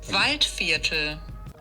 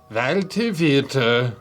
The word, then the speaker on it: Waldviertler: Let's figure out how to say that. Waldviertler. Waldviertler. So that's roughly how you pronounce it.